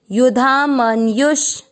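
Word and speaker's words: युधामन्यु: पहला चरण युधा, म के साथ आधा न, मन यू के साथ आधा श, मनयुष, युधा मनयुष।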